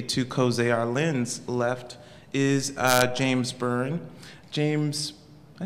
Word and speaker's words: James Byrne: Immediately to Zeyar, Lynn's left is James Byrne.